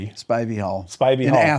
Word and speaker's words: Spivey: Spivy or Spivey. Spivey Hall.